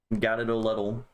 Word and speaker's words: Gatito Letal: Okay, Gatito Letal, Gadidoletl. That's how you pronounce it.